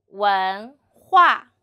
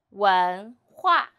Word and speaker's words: 文化: 我们一起读文化文化 So, 文 H is the final 无 N 文 second tone 文文 and 呵